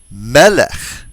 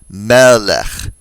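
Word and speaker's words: מלך: They're all penultimately stressed. That is, they all have stress on the second to the last syllable.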